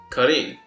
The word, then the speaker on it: Korin: Korin is a pun on corn, but in Japanese his name is pronounced Karin, which is a pun on karinto.